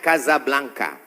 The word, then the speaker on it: Casablanca: nama negaranya Maroko ibukotanya tulisannya Casablanca cara bacanya Kasablanka Kaza artinya rumah Blanca